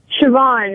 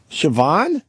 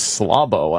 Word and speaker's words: Siobhan: you say your name Siobhan it's Irish Siobhan yeah it almost says slabo I don't do hold